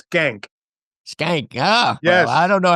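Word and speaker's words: Schenck: k but skank it's it's Russian and their descendants pronounce it shank which is a little easier on the ear yeah but I think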